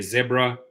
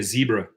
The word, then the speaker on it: zebra: the rideshare world zebra south africans know how to pronounce zebra correctly some say zebra we say zebra zebras flo kun lai